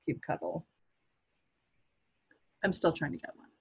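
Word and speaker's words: kubectl: definition last year that said cute control it's pronounced cute cuddle I'm still trying to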